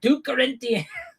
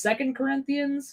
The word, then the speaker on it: 2 Corinthians: Uh isn't it pronounced second Corinthians? Doesn't anybody that's even like become vaguely familiar with the Bible know it's 2 Corinthians, not two cor No, it's two Corinthians. That's how it's always been.